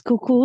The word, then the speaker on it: Cuckoo: we have guest Toastmaster cuckoo if I'm pronouncing it correctly please introduce yourself and feel free you got it right it's cuckoo like the clock I'm also from the